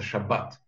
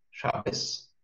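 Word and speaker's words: שבת: Если вы приходите в ашкеназскую синагогу и слышите там, например, вместо «шаббат» «шаббес», да, не удивляйтесь, именно потому,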